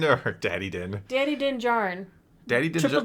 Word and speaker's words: Djarin: Wait, I didn't pronounce it correctly for you. Djarin. Yes, that's how you pronounce it. That's why I got confused. I was Djarin. forgetting about the D that you always like to... The D sound is there.